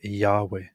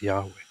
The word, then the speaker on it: Yahweh: And the most common, most popular conclusion by scholars at the moment is that it is most likely Yahweh.